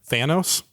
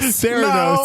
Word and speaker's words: Theranos: Thanos? Oh, Kitty. no, I'm sorry. That's not Kitty. I said it wrong. It's not the freaking Guardian. KD. Theranos. Theranos is correct.